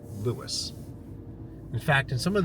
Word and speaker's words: Lewes: So, I have not left Lewis yet. And it's definitely pronounced Lewis. In fact, in some of the older documents, they spelled it L E W I S, but um is definitely pronounced Lewis.